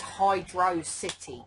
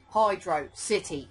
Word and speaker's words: Hydro City: still in doubt there Hydro City words separated it's pronounced Hydro City not hydrocity like velocity right let's do this